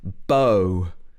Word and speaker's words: bow: So this word is pronounced bow. And it's what you use to shoot somebody if you want to shoot them with an arrow.